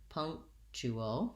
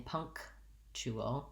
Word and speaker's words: punctual: it first of all it has first syllable stress so the pung syllable is long punctual um we have a little kt sound in there but we make a stopped k um and so we're not really saying punk chuo punctual we just stop the air to mark that stop and then we move